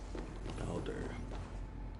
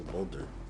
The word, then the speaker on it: Baldur: Baldur. Is that how they say it, Baldur? I thought it was Boulder.